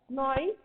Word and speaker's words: gnawing: Okay, gnawing animals. Here G is silent, so they are known as gnawing animals.